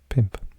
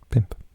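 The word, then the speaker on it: pump: tree and die so it looks like bump but it of course that rule it's pronounced pimp pimp CH in Welsh yes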